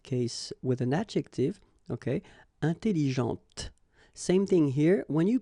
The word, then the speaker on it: intelligente: with an adjective, okay, intelligente. Same thing here. When you put this well, actually you will pronounce the final T, okay, but you don't pronounce this here.